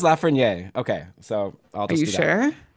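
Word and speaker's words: Lafrenière: let's just pick one now is it la ferraniere or la ferniere which one do you want to do if you want to pick one yes let's pick it right this isn't like i'm not saying this for the show somebody somebody told us on our discord series yeah i think it was lafreniere okay so are you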